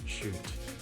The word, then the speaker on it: chute: two levels and yes i know the pronunciation is shoot but it's about juice